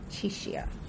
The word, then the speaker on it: Chishia: Chishia. Like Cheshire.